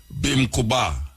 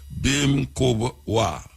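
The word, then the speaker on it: Bimkubwa: Bim kuba. Bim kuba. Make spell it right. Bim kwa.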